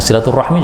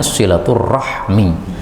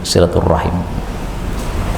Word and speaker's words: silaturahmi: Iya aslinya Abu bakrin nah silaturahmi juga begitu aslinya silaturahmi tapi karena itu mungkin lebih susah ya menjadi silaturahim Cuma istilah aja itu